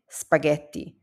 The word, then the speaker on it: spaghetti: GH together they always make a hard g sound like in go. Here you have words like gacho which means ice gacho and spaghetti.